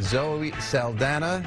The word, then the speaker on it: Zoe Saldana: Zoe Saldana.